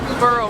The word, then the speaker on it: Borough: it to para Market we would say burrow Market damn pronounce zephara Market